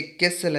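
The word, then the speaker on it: castle: ये कैसल है, T silent है।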